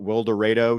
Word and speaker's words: Wildorado: Let's first of all put Wildorado, Texas on the map. I appreciate you saying Wildorado too, because I would have pronounced it Wildorado and been mocked by everybody in Texas.